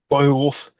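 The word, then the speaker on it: Beowulf: Wait, Brainard, how do you pronounce it? Bay Wolf.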